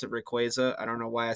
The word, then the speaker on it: Rayquaza: the Cornucopia by the way you're supposed to pronounce it Rayquaza I don't know why I said Rayquaza but